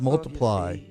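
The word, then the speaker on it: ×: On Christmas in 2014, Ed Sharon was at number one on the album chart with X pronounced Multiply.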